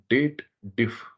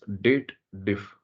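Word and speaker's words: DATEDIF: anything name is called Date diff the formula name is date diff people always does the wrong pronunciation they believe there is a if condition is available and they read it as dated if but technically this formula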